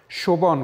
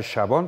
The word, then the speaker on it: شبان: خیلی گویا بیان شده شبان خوندم می‌دونید دیگه بیشتر شبان تلفظ میشه اشکالی هم نداره ولی اصل کلمه شبان هست چوبدار می‌گفتن حتی به